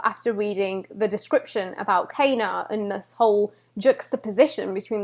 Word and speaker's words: Kena: an achievement rosie because i keep calling kana kina and this is the question how do you pronounce her name i love how they roll it's pronounced kana k na whew like seriously i mean rosu